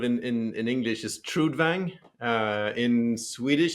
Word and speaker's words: Trudvang: I mean, the most I've heard it sort of in in in English is Trudvang. Uh, in Swedish it's more like trudang, but trudvang in in English is fine.